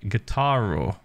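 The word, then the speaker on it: guitarra: a guitar in Spanish you can say it like guitara uh without the W sound at the end it might help well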